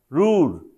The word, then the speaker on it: Ruhr: रूड, spelling इसका RUHR होता।